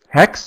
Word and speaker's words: haXe: so my session here is mobile and hacks hex it's actually pronounced x it's a it's from Nicholas he's